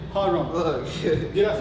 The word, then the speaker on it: HARHUM: So when you think about HARHUM, harmonizing, humming. HARHUM. Think about those two words and then HARHUM.